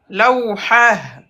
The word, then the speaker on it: لوحة: On dit lawhatun, mais quand on s'arrête, lawha. On va pas prononcer le T.